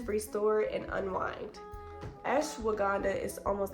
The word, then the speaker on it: Ashwagandha: Ashwagandha. Okay, there we go. There we go. I be saying Ashawanda is Ashwagandha. Okay, there we go. Just be be careful. Okay, it says restore and unwind. Ashwagandha is almost like when